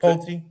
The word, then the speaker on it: Pulte: Now, uh, the the stand-in Bill Plute, I think that's how you Palte, pronounce the brothers. Huh? Palte, Palte. Pulte, Pulte.